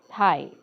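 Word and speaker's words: thigh: की आपोआप लक्षात राहतात थाय थाय म्हणजे जी मांडी असते त्याला आपण टी एच आय जी एच थाय म्हणतो जी एच सायलेंट करायचा आहे याच्यामध्ये नी नी मध्ये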